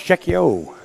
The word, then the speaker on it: Cheqio: All right, we're about to get the official word on the correct pronunciation. It's Cheqio.